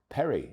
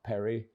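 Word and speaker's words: Perri: The new leads United goalkeeper whose second name is spelled P ER I Perry. Easy, you would think, but think again. The Rs in certain parts of Brazil are said as H's.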